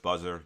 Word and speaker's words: BZZR: Search Buzzer. BZZ R. So not how you pronounce not how you pronounce it, but this is a different spelling.